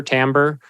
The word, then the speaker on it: timbre: Rhythm or um Tim Timber Timbre I think is how you pronounce it what's being conveyed you